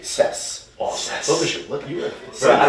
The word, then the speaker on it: CES: Yeah, but it's a soft C. CES.